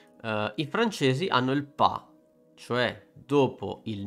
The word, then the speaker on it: pas: do e il Not I francesi hanno il pa Cioè dopo il n Che vuol dire sostanzialmente